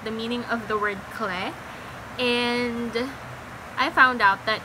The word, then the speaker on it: Clé: I think it's clay. I've been pronouncing it as clay. I don't know. Bang Chan pronounces it as clay, so I will call it as clay.